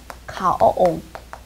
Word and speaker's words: 가어옹: 가어옹. 발음이 좀 어렵네요. 가오옹. 계속 이어서 해보세요. 가오옹, 가오옹. 어려워요.